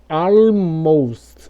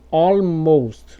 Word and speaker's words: almost: Existem algumas raras exceções, como por exemplo, como no caso dessa palavra que aparece aí, que você vai pronunciar o L e ela vai sair assim, ó, almost ou almost.